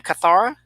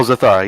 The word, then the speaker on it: Zathara: Say her name, Kathara. Oh, Zathara, yeah.